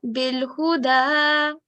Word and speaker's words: بالهدى: This has a fatha and this has a dhamma and this has a vertical fatha on top. This should be pronounced for 2 seconds and this for 1 second. Do you want to try? Bil-Huda.